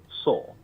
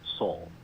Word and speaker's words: sol: 1. Paulistano, São Paulo, pronunciation sol, pronouncing the S sound more like S in English. 2. Carioca, Rio de Janeiro, pronunciation sol. The S sound may be pronounced more like sh in certain contexts. 3. Gaúcho, Southern Brazil, Rio Grande do Sul, pronunciation sol. The S sound may be softer or resemble a sound.